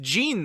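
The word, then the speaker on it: Ziin: Yeah, it's pronounced Jean though, so it's really funny.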